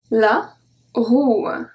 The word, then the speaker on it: roue: If we remove the E, it makes the sound OU. OU. So we have la bourre. La bourre. La joue. La joue. La roue.